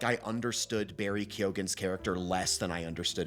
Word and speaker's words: Keoghan: For anybody who hasn't seen it, basically, Barry Keoghan, I think that's how you pronounce his last name, is Keoghan, but he is an